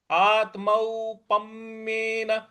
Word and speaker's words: आत्मौपम्येन: आत्मौप आत्मौप देखिए, आत्मौ यहां जो आधा त है इस पर हमको आघात देना है। आत्मौप आत्मौपम्येन। पम्येन देखिए, प के बाद जो आधा म है उस पर भी हमको आघात देना है। तो आत्मौपम्येन, आत्मौपम्येन इस प्रकार से बोलेंगे।